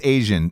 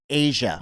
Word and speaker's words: Asa: I believe yeah it's I believe she pronounces it Asia does she good for